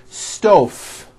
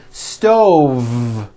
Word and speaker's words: stove: incorrectly here we go here's the first word stoff i cooked dinner on a hot stove was that correct no i should have said stove stove i cook dinner on a hot stove